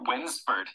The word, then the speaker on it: Wednesford: for the bus fare oh winsford that's funny it's like when's the food no it's spelled w-e-d-n-e-s-f-o-r-d it's a village a